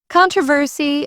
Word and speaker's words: controversy: Controversy is stressed on the first syllable in British English, not the second.